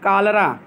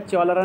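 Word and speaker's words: cholera: ऑफ कालरा पढ़ा जाएगा, चौलरा नहीं पढ़ा जाएगा क्योंकि CH से का भी होता है केमिस्ट्री करेक्टर, जानते हो ना CH का 3 उच्चारण होता है, बताए थे आप लोगों को।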